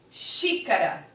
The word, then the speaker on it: xícara: Porque se não houvesse o acento, eu jamais leria a palavra como proparoxítona. Xícara. Lembrando o que é uma proparoxítona? É quando a antepenúltima sílaba ela for a mais forte.